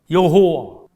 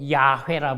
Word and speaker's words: 여호와: 여호와. 여호와를 천주교식으로 어떤 목사님 중에서도 야훼라 불러. 여호와가 야훼 같은 단어인데 발음을 틀리게 한 거예요.